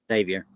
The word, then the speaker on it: Xavier: Cayman Islands to a tournament with Northwestern and Xavier, how you say it? Xavier.